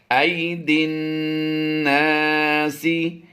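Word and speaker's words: أيدي الناس: ज़हरल फ़सादु fill बर्रि वल बहरि बिमा कसबत ऐदिन, दाल नून से दिन, या अलिफ और लाम ये साइलेंट होंगे। ऐदिन नासी लियुज़ीक़हुम बअदल्लज़ी, लियुज़ीक़हुम, मीम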